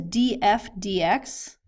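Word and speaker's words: df/dx: All right, the next one is df dx. That's how we would pronounce it.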